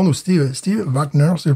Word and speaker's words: Wagner: Et Steve Wagner, si je le prononce en allemand, ou Steve Wagner, si je le prononce en allemand.